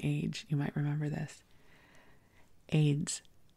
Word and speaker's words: Ayds: AIDS weight loss candy. It's spelled AYDS.